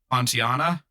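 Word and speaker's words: Pontianak: But so and we had to look up how to say it, but it's a Pontiana or Kuntianlana.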